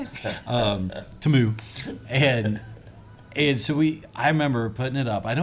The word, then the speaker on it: Temu: Temu, and so I remember putting it up.